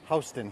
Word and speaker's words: Houston: same as Houston the city but it's we pronounce it Houston here and Soho is simply south of Houston and that is that section of town which